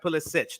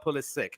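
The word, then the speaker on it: Pulisic: can you do and it is pronounced Pull A Sitch not pull is sick it's uh Yugoslavian I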